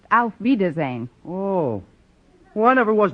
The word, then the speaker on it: Auf Wiedersehen: Gosh, if oof Weezer's end doesn't mean goodbye, then my coming over to wish you oof Weezer's end must make me out to be some kind of a dummy.